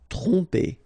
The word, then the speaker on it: tromper: Tromper. Okay, same thing here. OM, so, and after that you get a consonant, so technically you will pronounce it like a nasal here. OM will go like on.